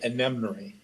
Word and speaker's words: Enimnori: Oh, I pronounce it Enimnori. Enimnori. Just like it It's, looks. I have an odd sense of humor. It's Iron Mine spelled backwards.